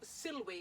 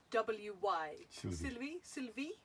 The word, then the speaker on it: Silwy: So this time it's a German company called Silwy, and I hope I'm pronouncing that right because I've never actually heard it pronounced out loud, but it's S-I-L-W-Y. Silwy? German, yeah, W's a V, and it's Silwy perhaps.